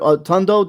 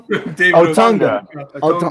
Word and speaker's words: Otunga: I mean, the other with David Otundo, they did pretty good job, man, as a tag team. Did I say it wrong? Otunga. My bad.